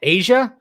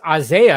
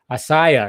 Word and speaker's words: Isaiah: I see your name I'm like Asia but it's Isaiah or a something like that you don't say it like Asia Argento it's like asaiah or something like that